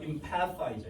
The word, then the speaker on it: empathize: 근데 아래 거는요, pa잖아. 그렇죠? 그래서 empher가 아니고 empher야, empher. 됐어요? empher. 뜨야 뜨. 이 th가 그 저기 번데기 발음, 노홍철 발음. 뜨 이거거든요. 그래서 empathize, empathize.